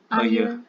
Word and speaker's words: ayı: It is pronounced as ayı. Ayı. Ayı.